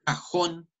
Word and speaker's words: cajón: La palabra cajón lleva acento en la última sílaba y termina en N.